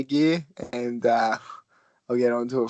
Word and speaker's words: Geir: That is the Gear. Gear is spelled G-E-I-R.